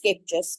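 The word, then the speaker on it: Scheepjes: I'm using for mine is from SK it's pronounced scapis but I'm not Dutch so I pronounce it sheep it's their secret garden it's a silk blend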